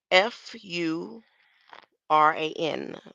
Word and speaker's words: furan: like carbo carb carbo Fu r a n like Duran but with an F so carbon fan furan